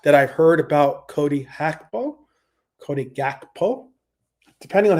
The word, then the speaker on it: Gakpo: how you pronounce it, because like the G in Dutch is pronounced as an H as opposed to a G. But if you're going to say it, I guess, with an English perspective of saying the name, it would be Gakpo.